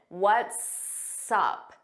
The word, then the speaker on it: What's up: What's up? What's up? So, notice it sounds like one word and you hear that s on what's and sup. We put it in front of up.